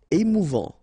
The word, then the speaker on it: émouvant: Émouvant, final T not pronounced, A-N together, en, émouvant, émouvant.